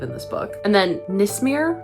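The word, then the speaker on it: Nismera: And then Nismir. Nismir. It's spelled N I S M E R A.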